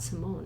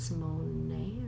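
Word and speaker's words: Raven-Symoné: Raven Simone is not Simone. It's Simone or Simone. Yeah. Or whatever. Like you pronounce the E at the end because it's French or.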